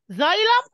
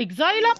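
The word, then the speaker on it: xylem: زايلم اللي هو كاري ووتر اب، شايل الووتر لأب من الروت للليفز، ده اسمه اكزايلم او زايلم، ليه نطقين، ممكن زايلم وممكن ايه اكزايلم، ده اللي موف اب،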